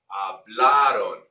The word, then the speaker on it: hablaron: You guys, notice, hablaron, hablaron. A lot of you come in when you want to say hablaron. No, no, hablaron, hablaron. The stress is on that A.